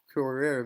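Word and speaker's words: Cœuré: cbdc's and benoit correa corer that's how you pronounce it just said that they're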